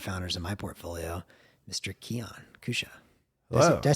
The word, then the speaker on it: Keyan Kousha: be here yeah uh Keon Kusha yeah I let I'll let people pronounce my name wrong for years so uh if you feel like you have my name wrong please ask me I uh was working with someone recently for a few years and they called me key and and and I just never corrected them close enough yeah anyway this I